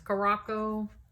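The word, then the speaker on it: Curaçao: we were in Curacao that is how you pronounce that see you are a c-a-o is Curacao that's karako not anything else that I've heard is sure so that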